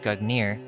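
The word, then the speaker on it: Gungnir: old norse gog nurse weighing pronounced gut near is the name of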